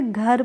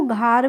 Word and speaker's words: घर: तो देखिए अगर आपने इसको घर पढ़ा या यहां पे ए का प्रोनाउंसिएशन आपने ए की आ की मात्रा कर दी तो यह हो गया घार। तो जल्दी घार थोड़ी नहीं होगा। घार तो नहीं होगा।